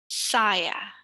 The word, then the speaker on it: saya: So the penultimate syllable, so here we have 2 syllables, the first and the second. So penultimate syllable is the syllable right before the last one. So you would want to saya. Similar with nama with 2 syllables, you the sa. Saya.